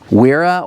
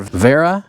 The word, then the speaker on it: Wera: at the next one this is weira or Vera I guess depending on where you're from it's going to depend on how you pronounce that but this I usually just say WEA but this a German company but these are made